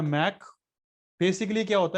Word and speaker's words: Mach: जो धनेन्द्र जो आपका मैक होता है, उसकी स्पेलिंग होती है MACH, ये होता है मैक।